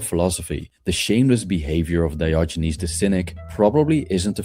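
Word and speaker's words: Diogenes: Dioynes, that's how that's how you say his name. Always have a trouble uh pronouncing it.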